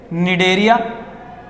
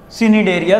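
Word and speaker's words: Cnidaria: दो फाइलम बताए हुए हैं, निडेरिया, सिनिडेरिया सी साइलेंट, ठीक है जी, एनालिडा, लव्स एनालिडा एनुलस से निकला, और एनुलस का मतलब क्या होता है बेटा?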